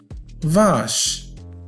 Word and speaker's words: vache: هذا الحرف هو ش، سي وآش تعطينا ش، فنقول vache. vache وتعني بقرة.